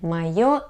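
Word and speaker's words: моё: here first of all the stresses letter yo is always in stressed position emia ema here the stress is on the letter e myo emia okay and what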